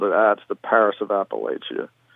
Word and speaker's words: Appalachia: Yeah, I say Appalachia. We're right at the point. I think the Mason-Dixon line, below the Mason-Dixon line, it's Appalachia, largely. People pronounce it that way. And I think above the Mason-Dixon line, it's Appalachia. We're very close to the Mason-Dixon line. It's an hour south of us. So we get both pronunciations here.